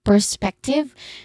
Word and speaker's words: perspective: Here's perspective. The second syllable is the stressed syllable here, which is on peck. Peck, which has a short S sound. Okay? Perspective. The last syllable has a short E sound.